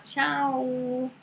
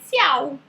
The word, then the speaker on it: ciao: Então, a gente não fala tchau. A gente fala tchau. Então, imagina essa palavra, se você não soubesse a pronúncia correta, você ia ler ciao. E aí, como que o italiano ia entender se você falasse ciao? Não ia entender nunca.